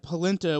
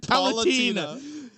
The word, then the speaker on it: Palutena: Out of all of the many things that Pitt was thinking that Polenta was going to do to him. Polenta? What is she, a bean? How do you say it? Palutena.